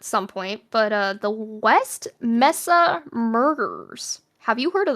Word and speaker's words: Mesa: into this at some point, but, the West Mesa murders. Have you heard of that? The West Mesa murders refer to the Mesa?